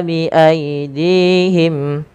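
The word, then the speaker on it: بِأَيْدِيهِمْ: Yaktubunal kitaba biidihim. Panjangkan tas panjang dua harakat karena dia ada alif kecil setelahnya. Biidihim dihim. Panjangkan dinya dua harakat karena di sini ada ya kecil, Teman-teman.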